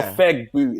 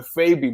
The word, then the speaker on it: Fegbu: Yeah, you know, in Igbo, the G is silent, so it's not a Fegbu, it's a Febu, but they were saying a Fegbu.